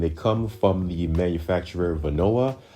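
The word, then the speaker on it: Vonoa: come from the manufacturer Venoa. I think in the past I called them Vonda, but it's spelled V O N O A.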